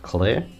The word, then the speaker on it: cl-r: Apparently, the CL-R is pronounced clear, so you learn something new every day, I guess.